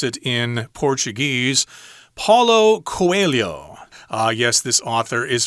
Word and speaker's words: Paulo Coelho: and about the author himself if i can pronounce it in portuguese paulo coelho uh yes this author is from brazil they